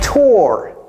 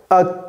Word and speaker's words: tour: This is not tour. This is a tour. A tour.